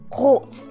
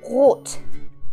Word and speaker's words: rot: It's the R sound, like okay, so I try to mimic that. Like for example, there are some vocabulary with the R sound, like restaurant or rot.